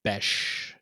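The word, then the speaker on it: Bech: I was on the Raiders Reddit thread, and it is pronounced Besh. Jack Besh. Oh, that's boring. Yeah, I'm just going to call him Besh.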